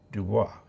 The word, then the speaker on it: Dubois: I notice in Wyoming there is a city, town, spelled Dubois, but they pronounce it Du Bois.